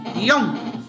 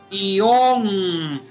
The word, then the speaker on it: guion: Si la pronuncia como un diptongo, guión, caso en que es una sílaba, o si la pronuncia como guión, entonces aquí es bisílaba, ser aguda terminada en una N, y aplicamos la línea de las agudas.